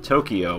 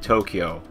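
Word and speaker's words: 東京: lot of people because in English we'll say Japanese words with y's as if it's the e sound like Tokyo will say but really in Japanese it would sound like Tokyo it's sort of a blend of K and there's a lot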